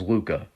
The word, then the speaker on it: LHUCA: There's the Louise Hopkins Underwood Center for the Arts, or what's often referred to as LUCA. It's spelled LHUCA, pronounced Luca.